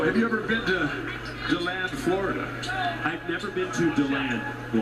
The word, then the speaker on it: DeLand: How do you know it's DeLand instead of DeLand? I'm trusting the people that are local to the area when they call it DeLand. I'm going with what they say.